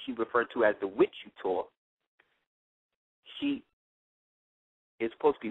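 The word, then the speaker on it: Witchu: referred to as the With You Tour. She is supposed to be with you, but she pronounced it Witch You. So it's she spelled it W-I-T-C-H-U, but it's like with you.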